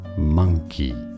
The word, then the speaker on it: monkey: So the first word, the top word here, is monkey, monkey. So it's an A sound, a schwa sound, not an O sound.